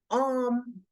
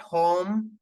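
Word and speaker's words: homme: sound of H silent whenever you see any words starting with h please skip the sound of H and start the pronunciation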